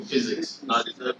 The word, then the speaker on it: physics: when you want to pronounce the word physics, that we'll learn in school, physics. It sounds as if it starts with F, but it's actually PH.